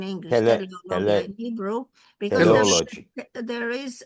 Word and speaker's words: teleology: Teleologia in Hebrew, because teleology. there is it's not theology, it's teleology. Theology. Teleology. Teleology.